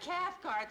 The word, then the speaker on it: Cathcart: Mr privilege yes Esther Kath rhymes with heart Esther Cathcart silly why did you